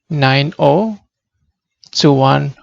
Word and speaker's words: 90210: Ya, ada pilihan, Anda bisa mengatakan 90210, atau lebih populer dibacanya 9, ya 0-nya ini dibaca O, 90210.